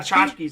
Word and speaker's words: tchotchkes: And then I was like, tchotchkes, that's what it is.